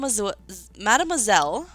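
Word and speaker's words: mademoiselle: Madame Madameelle Bell. Whenever I say Madameelle, it always like says swell instead of zel.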